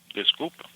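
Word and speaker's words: desculpa: It's me E. Um and then disco e s c u l p a.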